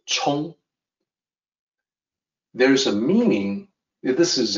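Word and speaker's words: 沖: explain why that is first the character is pronounced Chong there's a meaning this is a common character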